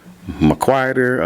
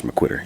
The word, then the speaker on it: McQuitter: which in my family some people pronounce it mcer other folks pronounce it mcquitter but but I pronounce mcquitter anyways but other folks